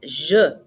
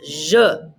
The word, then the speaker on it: je: call myself i is je and e in french is like somebody is punching you in the stomach uh so it's je repete and your name